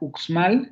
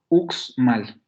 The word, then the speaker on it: Uxmal: Tiene dos consonantes de coda en la primera sílaba. Tenemos la vocal central, la cerrada posterior, y luego tendríamos dos consonantes en la coda de esa sílaba. La velar oclusiva sorda y luego la alveolar fricativa sorda, uxmal.